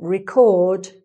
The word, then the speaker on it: record: But a record is the thing itself, the noun. Okay. And you'll also notice the vowel sound changes slightly, because you're changing the stress. So: "record", "eh", the "eh" sound, but "record", "a", it becomes an "a" sound, here. "RE-cord", "re-CORD", so sometimes with the change of stress, the vowel sound changes, too.